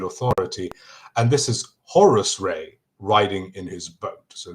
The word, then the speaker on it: Ra: So ray this is ammon ra you've probably heard that pronunciation although people have switched to the proper pronunciation being ra and now people call him raymoon is still a moon.